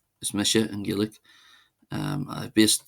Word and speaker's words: is mise: My name is or is Misha is Mmisha in Gillik.